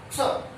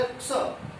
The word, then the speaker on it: क्ष: एस H plus ए, तो इसका उच्चारण यही होगा। और ये आधा का है जो कि इस पर लगातार डाला जाएगा तो क्ष, ऐसे बोला क्ष, क्ष, क्षेत्र, क्षत्रिय, क्षात्र, क्षत्राणी, तो इस प्रकार से इसका उच्चारण होगा।